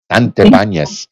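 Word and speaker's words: Santibáñez: up that last name because it is a spanish name santibanyas but uh you know i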